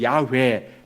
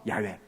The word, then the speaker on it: 야훼: 여호와, 또 다른 표현으로는 야훼, 똑같은 4문자를 보고 발음은 약간 다른 거죠. 여호와, 야훼, 같은 표현입니다.